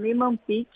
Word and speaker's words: Niemann-Pick: A doença, o nome é esse mesmo, pronunciei correto? Niemann-Pick? É esse mesmo, você pronunciou correto. Niemann-Pick tipo C.